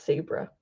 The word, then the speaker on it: Sabra: It's spelled like the hummus, but it's Sabra.